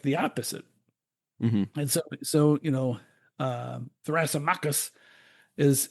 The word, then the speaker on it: Thrasymachus: Telemarketus. His theory. Thrasymachus.